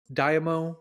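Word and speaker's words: daimyo: in Japan there is I believe it's pronounced Damo which is just a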